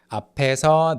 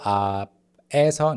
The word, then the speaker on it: 앞에서: 앞에서, the 피읍 at the end of the first syllable carries over to the second syllable. 앞에서, no, 앞에서, 앞에서, 앞에서, in front of.